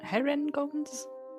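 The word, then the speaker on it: Harengon: us Ka knows that there that those are her gun okay Haron guns Haron guns har heren gun yeah that is how the book says it's pronounced okay her gun I guess so they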